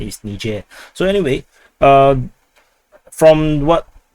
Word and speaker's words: Niger: on Niger I'm sorry Niger and basically uh Nigel or depending on how you pronounce the word but uh the correct pronunciation is Niger so anyway um from what if if you